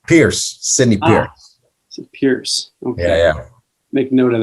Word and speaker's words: Pierce: renowned expert in the field of advertising mr pearson thank you so much for joining us it's actually pronounced pierce sydney pierce make note of that excellent so